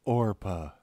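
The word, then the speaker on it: Orpah: important anyway opilia Orphus Oprah Orca Satan it's pronounced orpa in rinic literature Ora is the mother of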